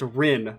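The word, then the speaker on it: Renne: saying her name wrong it's just pronounced wren there's nothing extra it was something along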